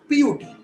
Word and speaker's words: put: For example, cut C-U-T, but put it's P-U-T. Cut we say A, but put we say U.